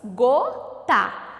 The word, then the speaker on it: gota: Gota. Qual é a sílaba tônica? O gó.